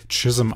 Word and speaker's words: Chisholm: Teil des chism Trails chishholm geschrieben chissem ausgesprochen was ein herdenweg war